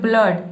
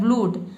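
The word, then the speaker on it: blood: यहाँ पे ऊ, अगर ऊ पढ़ते हो तो ये हो जाता है ब्लूड, लेकिन इसको हम पढ़ते हैं ब्लड।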